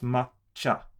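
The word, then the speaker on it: まっちゃ: together become cha and the tsu in front of the chi makes it a double consonant which adds one more which is a length of time and pronunciation so it becomes matcha instead of if it was just written like that it would have been matcha matcha matcha um and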